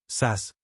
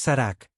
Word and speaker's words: Sarak: Solo es mi equipo, Sas, respondió Jake, destrozando deliberadamente la pronunciación. Es Sarak, como bien sabes.